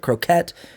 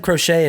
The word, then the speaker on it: croquet: pronunciation of this but croquette croquet okay i said crochet initially it's not that no that's no that's that's like needlework yeah yeah yeah but